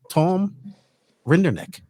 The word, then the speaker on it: Rinderknecht: What does the future hold for Tom Rinderknecht?